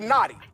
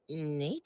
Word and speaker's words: Nate: Where is Big Naughty? Is Big Naughty up in here? It's Nate.